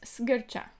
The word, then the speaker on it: Sgircea: so let's see and my name is pronounced ska that's the pronunciation of my last name next time somebody ask